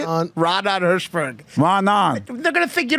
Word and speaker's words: Raanan Hershberg: It's a Hebrew word, so in Hebrew you have to have like a Israeli accent to say it.